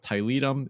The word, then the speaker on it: Tiletum: right out by saying, apparently you can pronounce it either way, pronounce it however you want to. So for the rest of this discussion, we're going to go with Tiletum. It is no longer pronounced Tiletum. I'm glad to hear that. It is forever pronounced Tiletum in my vocabulary.